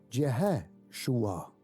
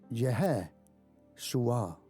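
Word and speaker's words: ישוע: Pero el nombre de Jesucristo, si quieres pronunciarlo completamente, se llama Yeshua. Yeshua.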